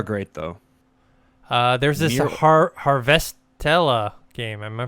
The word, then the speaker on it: Harvestella: There's this Near Harvestella game. Am I pronouncing it correct? Harvestella, yeah.